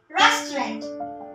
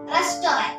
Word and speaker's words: restaurant: Fourth word, restaurant. Restaurant. Everyone say it as restaurant. The correct pronunciation is restaurant.